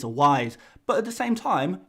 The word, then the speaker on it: Wise: and organically say dennis vice and now i can stand here and say well i'm english dennis wise is an english football player it's pronounced wise don't say vise it's a wise but at the same